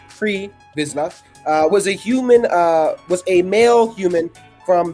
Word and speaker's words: Pre Vizsla: So, Pre Vizsla, pronounced Pre Vizsla, was a male human from the planet Mandalore